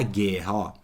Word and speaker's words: guerra: em guerra ó quilo repare que fala guerra para estudar fonologia eu tenho que pronunciar as palavras eu tenho que falar mesmo ó guerra guerra eu não escuto então é dígrafo Nós